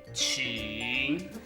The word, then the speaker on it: 情: 是爱森公寓。爱情公寓没错呀。这个字念情。